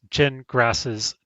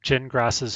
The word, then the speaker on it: Gingras: And three, the blog effectively documents Jen Grass's dispute with the judge and opposing council in real time. In other words, it's pronounced gin like you drink and grass like you mow.